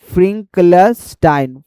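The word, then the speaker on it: Finkelstein: फ्रंकलेस्टाइन फ्रंकलस्टाइन फ्रंकलास्टाइन। ठीक है? मीनिंग होता है प्रोनाउंसिएशन गलत हो सके।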